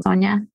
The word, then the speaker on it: Sonia: going to pick Sonia am I pronouncing your name Sona yes okay great do